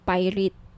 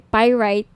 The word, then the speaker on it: pyrite: ng bracelet ito ung pirate pyrite sorry pyrite yung iba pronunciation pirate pyrite Okay 1,980 may may